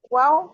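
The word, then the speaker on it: وَ: হ্যাঁ বলেন, মা বা ওয়া ফা ঠোঁট থেকে বের হয়, বা বা ওয়া ঠোঁট থেকে মা বের বা হয়। ওয়াও ফা। হ্যাঁ ওয়াও না, কিন্তু এটা ওয়া বলবেন।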